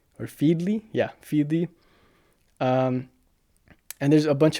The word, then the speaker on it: Feedly: I think that's how you pronounce it. There's also Freedley or Feedley. Yeah, Feedley.